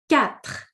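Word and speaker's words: quatre: Next one number four is cat. So qu is pronounced like a k cap.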